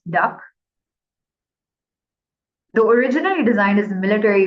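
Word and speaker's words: DUKW: UK these amphibious trucks known as duw pronounced duck the originally designed as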